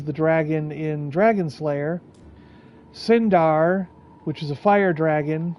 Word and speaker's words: Cyndar: I I like the letters c y n for sin. So, I I do Cyndar.